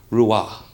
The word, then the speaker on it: Roy: the Montreal Canadian named Patrick Rua okay he's the gender his real name is Patrick Ro y Patrick Roy well the French don't want to say Roy they want to say petrick Rua now there's there's another